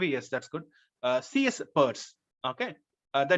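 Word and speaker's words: Peirce: Charles sers Pur R yes that's good CS Pur okay the name is pronounced Pur so he came up with semiotics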